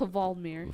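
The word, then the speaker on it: Hvaldimir: How do you even pronounce Vladimir? Yeah. It's Valdemir. Valdemir.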